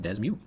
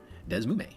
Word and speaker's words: DeSmuME: It can also be pronounced in many fun ways like desmu, desmume or desmi dingdong shabala smack.